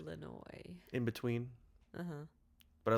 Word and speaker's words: Illinois: you have to start with another vowel in Illinois. Chicago, Illinois. Oh yeah. I mean, I guess you'd put the little like W-ish sound Illinois.